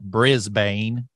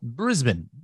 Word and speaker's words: Brisbane: I believe that's the correct pronunciation, not Brisbane, like we might say, but Brisbane, Australia.